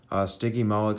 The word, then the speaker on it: Stygimoloch: Stygimoloch, say it like this.